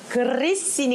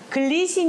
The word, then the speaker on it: grissini: 간단한 과자 안되요 그리스인이 그리스 씬이 가 맞아요 글리신 이라고 많이 쌓였어요 틀림 발음 이에요 글리신 이 그 메일이 들어가야 되구요 그 씬이 가 봤거든요 굴러 줘야 됩니다 그리스 인의 ss 2 개요 식당마다 이렇게 테이블에 보통